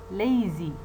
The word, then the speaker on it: lazy: Now see the example, lazy, lazy, lazy. You see the first syllable that contains the diphthong a is more prominent, it is stressed, and therefore the syllable is, the first syllable is strong.